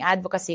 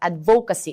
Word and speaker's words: advocacy: And even now, even people are mispronouncing advocacy. It's not advocacy. It's advocacy.